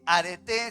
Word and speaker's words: areté: virtud de excelencia operativa y con acento en la e areté significa coraje diga conmigo coraje